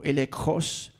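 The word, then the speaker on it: ἔλεγχος: By the way, this word evidence in the Greek is the word illegos or elekos if we want to pronounce it correctly.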